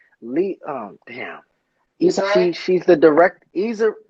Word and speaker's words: Issa Rae: Issa Rae? She's the direct. Issa. Right. That's her name. Issa Rae. That's how you Okay.